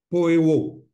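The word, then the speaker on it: ποιέω: Alors, en grec, la signification de je le ferai, j'espère le prononcer convenablement, excusez, en grec, c'est poeo. Voilà, je prononce comme ça tellement que c'est. Alors, ça s'écrit P-O-I-E-O en grec.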